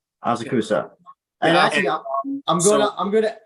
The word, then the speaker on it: Asakusa: He also has some name recognition coming from breaking down, and he trains in Triforce I can't pronounce it. Asakusa. Triforce Asakawa. Asakusa.